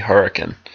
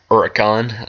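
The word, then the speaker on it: Huracán: But this is the highlight, the Lamborghini Huracan, or I believe it's Huracan, that's how you pronounce it.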